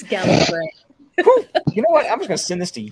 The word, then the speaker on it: Gallifrey: Gallifrey. Doctor Who. Huh. It's Gallifrey.